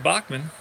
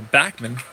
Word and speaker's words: Backman: second column row quality Bachman or Backman if you will to pronounce it correctly is up with Carter